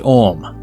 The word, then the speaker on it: AUM: and writers held that AUM pronounced om is the oldest omnificent